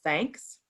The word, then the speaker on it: Thnks: And I found this platform called Thanks. It's spelled THNKS. So it's thanks without the A, without the vowel.